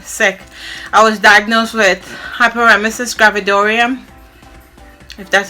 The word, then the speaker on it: hyperemesis gravidarum: i've just been sick i was diagnosed with hyperemesis gravidarum that's how you pronounce it it's a severe form of morning